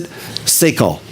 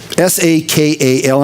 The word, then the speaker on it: sakal: It says David, and the word is, I'm not going to pronounce this Hebrew word right. If you want it right, call Lee. But I'm going to pronounce it Sakal. S-A-K-A-L. I'm going to say Sakal a lot. And this is going to be probably my next Didachi instead of Didache. So Sakal, because I'm going to say Sakal probably 30 times today. Now, if it's pronounced incorrectly, you know what it is. It's S-A-K-A-L.